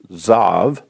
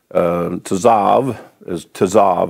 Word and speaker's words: Tzav: And this Torah portion is pronounced Tzav. Tzav, I think, is a better way to say it.